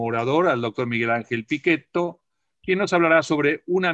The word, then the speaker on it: Pichetto: al doctor miguel ángel pichetto quien nos hablará sobre una mirada sobre el país piquet o o pichetto según ustedes quieran pronunciarlo hoy a las 18